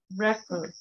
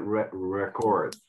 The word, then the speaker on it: record: it to record but when it is a noun it's then pronounced differently it's it's oops right